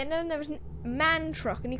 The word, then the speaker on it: MAN: Not M-A-N. I don't care what anybody says. I don't even care if man themselves says it's pronounced M-A-N. It's man. It's a man truck.